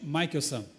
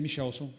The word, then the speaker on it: Michelson: é o outro Albert Albert Michael são essa é a pronúncia minha mãe não sabia falou que eu ia ser michelson e tá acabado É